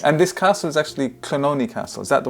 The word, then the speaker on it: Clonony: And this castle is actually Clonony Castle. Is that the right pronunciation of that?